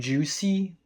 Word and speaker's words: JVSY: like to call them Juicy. I don't know if this is actually the right way to pronounce their name or not, but V is sometimes pronounced like U, if you're speaking in Latin.